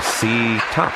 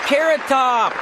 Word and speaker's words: Carrot Top: The next skaters are C top and pay phone. It's pronounced carrot top and let's boogie.